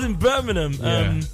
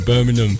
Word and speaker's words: Birmingham: You were in Birmingham. You know the way the London people say it. We don't pronounce it properly. Do you know what? They pronounce the G hard. Yeah, Birmingham.